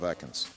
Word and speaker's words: Ekans: It's pronounced Ekans, you fool.